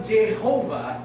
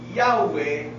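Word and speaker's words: Yahweh: Jehova mula sa Latin kaya ang tamang pronunciation o paggamit talaga ng pangalan ng Diyos na yahwe ay hindi jehov pag The Last Time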